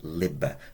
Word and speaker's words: liber: book bit like Library Liber with a short I sound Liber Liber is an adjective